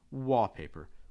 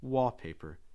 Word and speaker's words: wallpaper: walls you probably have wallpaper wallpaper stressing wall again it's not wallpaper it's